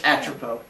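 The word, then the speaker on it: Atropos: The S is silent. It's Atropo.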